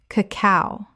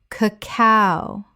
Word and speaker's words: cacao: cacao Common mispronunciation. cacao Correct pronunciation. cacao The stress is on the second syllable, not the first.